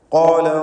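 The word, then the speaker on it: قال: ഖാല റബ്ബി, ഖാല എന്നതിലെ ഖാഫിന് തഫ്ഖീം കൊടുക്കുക, തടിപ്പിക്കുക.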